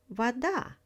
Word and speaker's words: вода: For example, the word вода. У меня есть вода. I have water. In the word вода, stress falls on the second syllable.